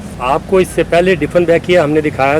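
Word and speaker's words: Dieffenbachia: इस प्लांट का नाम डिफनबैकिया है। आम तौर से कुछ लोग इसके बारे में ये भी कहते हैं डिफनबैचिया भी प्रोनाउंसिएशन होता है उनका।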